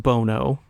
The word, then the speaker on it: Bono: Bono sucks, but that is pronounced Bono.